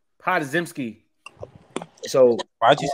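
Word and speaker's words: Podziemski: How do you pronounce his last name? Podzimski.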